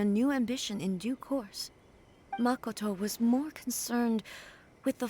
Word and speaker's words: Makoto: take in laughing my butt off makoto it's makoto i i makwa though that's how she pronounced it a ship is a couple you